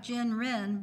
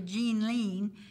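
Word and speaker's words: Ginrin: in the sunlight it's it looks like Jen Rin but it's actually jean lean is how you pronounce that and of course they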